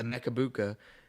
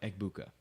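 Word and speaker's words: Egbuka: And if you put a Mechabuka next to I said it wrong, Ebuka.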